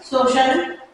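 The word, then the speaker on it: social: ए है और इसमें सी के साथ में आई ए है, देन यहाँ पर इसकी सी की साउंड श में आएगी, देन अब यहाँ पर सी का प्रोनाउंसिएशन श के साउंड में होगा।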